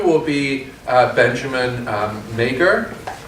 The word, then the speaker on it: Meagher: Talk 2 will be Benjamin Meagher. Is that correct? Meagher. Meagher? Yeah. Okay, so the Irish pronunciation.